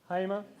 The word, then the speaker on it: Hamer: Our next presenter is Harmer. I hope I pronounced it. Is it Harmer or Hammer? Hamer.